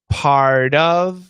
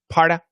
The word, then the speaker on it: part of: and out of so you should be pronouncing it properly imam pardov with a flap t out of with a flap t uh many times americans are just gonna say parda and ara um but what i